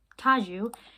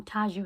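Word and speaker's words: Tadzio: a young boy named taju his name is spelled tatsio but they call him taju in the film I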